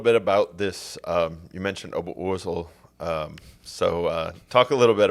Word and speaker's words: Oberursel: You mentioned Oberursel.